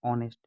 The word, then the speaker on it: honest: इसको बहुत से लोग हॉनेस्ट पढ़ते हैं जो कि गलत है। इसका राइट प्रोनाउंसिएशन होता है ऑनेस्ट।